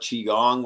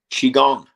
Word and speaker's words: Qigong: Qigong, Qigong? I've never qigong, heard of it. Qigong? qi Qi gong, gong. like a gong, like a gong.